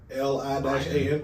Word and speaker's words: Lian: L-I-A-N. Ryan. It is the- I heard an Oh, L. I thought it was Lion. I Yeah. went to it is like phonetically it's Lian with like accent marks.